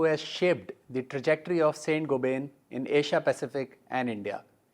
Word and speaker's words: Saint-Gobain: I understand the right pronunciation is something like Saint-Gobain. Correct. You're absolutely right. In so India, pick it up very quickly. In India, we call it Saint-Gobain.